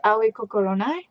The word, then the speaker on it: Aoi Kokoronai: And my name is Aoi Kokoronai, because people always pronounce it wrong, so people call me Aoi.